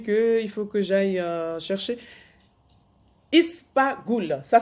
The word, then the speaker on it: ispaghul: Ispaghul, ça s'écrit I-S-P-A-G-H-U-L.